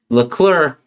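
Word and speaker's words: Leclerc: It's just clear. C is silent. Oh, is it? Yeah. Llur.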